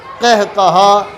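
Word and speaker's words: قہقہہ: اس کا درست تلفظ۔ اب یہ جو قہقہا لفظ ہے، قہقہا، اس کا بھی اصول وہی ہا والا کہ دوسرا حرف ہا ہے تو پہلے حرف کے زبر کو لٹا کر پڑھیں گے، اور باقی جو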